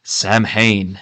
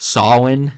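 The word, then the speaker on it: Samhain: it's a Celtic word Sam Hayne so technically mispronounced they believe that proper pronunciation is along the lines of Sinn however I'm very familiar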